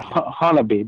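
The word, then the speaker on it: Honobia: of hinovia in oklahoma the locals call it hanabi but it's spelled like hinobia so if anyone wants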